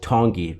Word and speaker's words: Tongi: trying to say donkey it's the tongi because I think Ian said the T should be pronounced like a d and I'm trying to